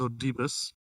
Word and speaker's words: Oedipus: Oedipus, I think it's pronounced. It's Oedipus.